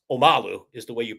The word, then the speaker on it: Omalu: Uh, and then the next line is um, the way Bill says it is Um, but we know it's Omalu is the way you pronounce it.